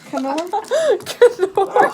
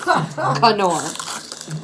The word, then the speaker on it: Knorr: Nor, you idiot. You don't pronounce the K. Knorr. She's on the dean's list, right? She can't say nors. Canor.